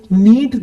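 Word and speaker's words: knead: है घटना या मारना इंग्लिश में नींद के एन ए ए टी के साइलेंट है आता गूंथ दो नीड डी तू अगला है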